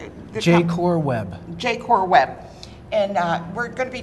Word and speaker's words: JaCorWeb: He is with, how do you pronounce it? JaCorWeb. JaCorWeb.